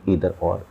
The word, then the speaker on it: either: If subjects are connected विद either or, neither nor, कुछ लोग इसे आइदर और भी पढ़ते हैं और कुछ लोग नाइदर नॉर भी पढ़ते हैं। आपको स्पेलिंग ध्यान रखनी है, EITHER और नीदर की होती है NEITHER।